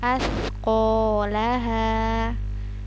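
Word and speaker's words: أَثْقَالَهَا: Astagfirullahaladzim katla h2h Rocker Juga askolaha askolaha perhatikan ini huruf tsa ujung lidah ya Mari kita baca dengan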